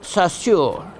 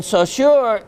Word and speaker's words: Saussure: Or there's another name given to this rare form of sagenite, and it's called sagenite of Saussure. Saussure. How I'm quite pronounce that?